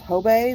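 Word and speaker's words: Hobé: brand that is H OBE and that is pronounced tobei this is a company that was founded in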